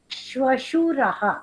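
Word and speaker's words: श्वशुरः: Then that you have father-in-law shwashuraha. So that is the correct pronunciation.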